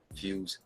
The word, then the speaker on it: Fwz: know what his name was or how to pronounce it or what it meant we got it established fuse is in the building man and now I